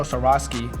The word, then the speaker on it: Swarovski: so gabe i know we're messing with actual swarovski is that how you pronounce that that's right you said it perfect